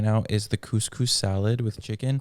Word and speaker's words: couscous: I also every year forget how to pronounce it, and I was pronouncing it caucus, but caucus is a judicial thing, isn't it?